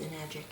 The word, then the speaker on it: Enagic: Which conveniently rhymes with enagic.